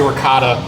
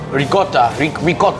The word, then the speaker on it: ricotta: So I know to say ricotta is like the worst.